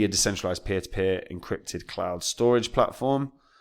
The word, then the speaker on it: Storj: I know it's pronounced storage, but I'm always going to call it Storj.